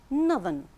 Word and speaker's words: northern: When we change it to an adjective, it becomes northern. Northern. Here we have the sound.